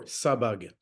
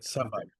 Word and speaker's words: Sabbagh: Sabag. Okay, good. Sabag.